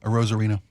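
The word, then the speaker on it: Arozarena: Arozareno.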